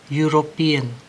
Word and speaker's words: European: European, ya, bukan bacanya itu E-nya, tapi ada kata U di situ.